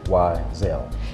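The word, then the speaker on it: Y'Zell: And then eventually I put an apostrophe between the Y and the Z. Okay. So that people can say phonetically Wiesel.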